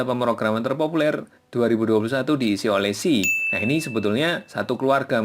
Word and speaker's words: C#: C Packer gini ya, C hashtag atau bacanya C#.